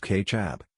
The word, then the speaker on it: kecap: Over 2,000 years ago, a fermented fish sauce called kecap, pronounced ketchup, was used as a flavorful condiment in Southeast Asia.